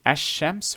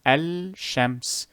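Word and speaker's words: الشمس: too difficult to pronounce however it is easier to say hashems rather than el shems it does not roll roll off the tongue smoother with a lunar lamp it is better with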